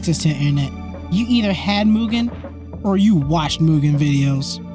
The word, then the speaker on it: Mugen: I just want to let y'all know every time I say Mugen, a part of me dies inside cuz for years that is not how I pronounced it.